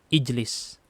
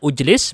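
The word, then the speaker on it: اجلس: Maka di sini pakai harokat kasroh ijlis. Bukan ujlis, bukan ajlis. Tapi bacanya apa? Ijlis.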